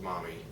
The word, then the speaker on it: momme: weird the word Mommy it's m o m m e it's pronounced Mommy I don't know why